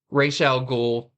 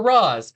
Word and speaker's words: Ra's al Ghul: Batman One Bad Day, Ra's al Ghul, or Roz. I believe both pronunciations are correct, except when people correct me, because I always said Ra's al Ghul.